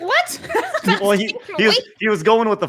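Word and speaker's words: oui: Well, he was going with the French thing, and I thought he was trying to be clever at the end. Sorry, Ian. We is spelled O-U-I.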